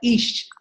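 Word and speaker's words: Ix: And by the way, Ish is spelled I''X, but spelled out EEESH or thereabout. Would you correct me? That's correct. It's Ish.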